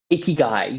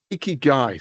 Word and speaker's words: ikigai: How do you pronounce it? Ikigai, yes. Ikigai, so reason for being.